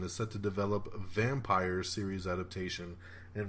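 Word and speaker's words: Vampyr: Fox 21 TV Studios and McGee's Wonderland is set to develop a vampire series adaptation, and vampire is spelled V-A-M-P-Y-R. That's right. Vampire.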